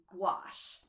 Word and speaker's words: gouache: talking about them um this is called gouache it rhymes with a squash and I had to